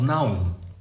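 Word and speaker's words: Nahum: eu tava assim tem um cantor novo chamado Naum né se escreve com h no meio não ele vai lançar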